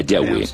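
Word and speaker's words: Yahweh: más íntimo y personal que normalmente se pronuncia yahwe yah los pasajes con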